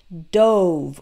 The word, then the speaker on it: dove: past tense of dive it's pronounced douve with a real strong o sound and there is a